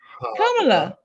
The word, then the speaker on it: Kamala: But like we said, if you ever need the reminder of how the name is pronounced, just think to yourself, Shamala, Hamala, Kamala. Kamala.